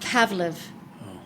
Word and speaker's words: Pawliw: How do you pronounce my last name? Pawliw. That's how you pronounce it? Pawliw is the real Ukrainian way to say my last name. But we say Paulo here in Canada.